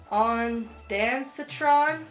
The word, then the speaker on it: ondansetron: I do not know how to pronounce ondansetron.